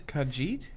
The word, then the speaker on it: Khajiit: Elder Scrolls one's called yeah that's it it's Khajiit is that the Catalans of the lizard ones